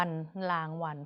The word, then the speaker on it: รางวัล: สะกด ดู เลย ค่ะ รอ อา ง ราง วอ อะ นอ วัน รางวัล เพราะ ว่า อ่าน เป็น แม่ กน นะ คะ ก็ คือ